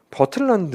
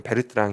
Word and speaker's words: Bertrand: 그 단어가 써 있잖아요 어떤 교수님들께서 는 버트란드 모형 이라고 해요 같은 건데 뭐 0 아 좀 아닌것 같아 그거는 것이 2분들이 이제 실제로 발음할 때는 베르트랑 이라는 표현을 쓰게 되는데 그 출제 하시는 분께서